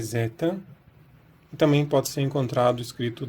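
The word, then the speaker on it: ζῆτα: gente teria deta deta há quem defenda que isso eram Z Então seria Zeta e ela também tem pronuncie mesmo no grego antigo essa letra sua mente como Z Zeta a produção moderna e sempre Z tá mais é esse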